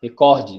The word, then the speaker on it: recorde: bom então vamos lá é recorde recorde ou recorde e os dois né foi massa aí o recorde né é uma paroxítona só mais forte e esse do meio tá